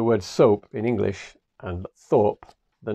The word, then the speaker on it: Thorpe: But in Japanese, they don't have the TH sound. So Thorpe in Japanese sounds like soap. So the word soap in English and Thorpe, the name Thorpe, sound exactly the same in Japanese.